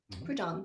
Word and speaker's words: Prudhomme: So this is a piece that was set to a poem by the French poet Sully, I can't pronounce his name, Prudhomme. Prudhomme. Prudhomme, thank you.